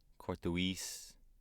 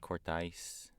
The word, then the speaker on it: Korthuis: what do you get Court due east Oh French Court ice mm-hmm which that's kind of technically how you pronounce it kind of thing yeah